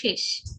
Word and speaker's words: শেষ: না, এর উচ্চারণ হবে শেষ, শেষ। ওকে, শেষ বললে এর মতো হয়, তাই না? এটা কিন্তু এ দিয়ে উচ্চারণ হবে, এর উচ্চারণ হবে এ দিয়ে, শেষ।